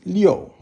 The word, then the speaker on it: 六: So the next one is 六. That's 6, is fourth tone.